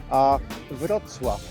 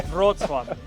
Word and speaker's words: Wrocław: But it's, how do you pronounce the city name? Wrocław. It's pretty easy. Yeah. Wrocław.